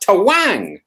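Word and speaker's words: Twang!!: robin hood um and twang is pronounced tawang as opposed to twang it's to wang um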